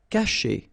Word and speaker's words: cacher: Cacher. Okay, so remember, when you combine this C and A, you get the sound K, okay?